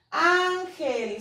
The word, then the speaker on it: Ángel: Ángel. Ángel. Se divide en ángel. Dos sílabas. La sílaba tónica es an. Y está terminando en consonante, que no es N ni es S.